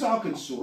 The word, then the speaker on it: Arkansas: does that say AR Aransas no arkans arkans it's Arkansas is it no that's